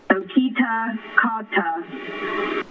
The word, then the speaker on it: Kitakata: the fountain of chroming okita kata that's how you pronounce it and the accent is on the key yes thank you we're